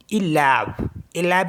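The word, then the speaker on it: élève: ऐसी next word हमारे पास ELEVE, तो पहला वाला क्या है, एक्यूट एक्सेंट है, इसे ए करके पढ़ेंगे और दूसरे वाले को ए करके पढ़ेंगे, तो इसे पढ़ेंगे हम इलैब मीन्स प्यूपिल।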